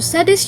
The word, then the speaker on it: Shadé: everyone, welcome to Sade's YouTube channel. Yes, it's actually pronounced Sade, not She.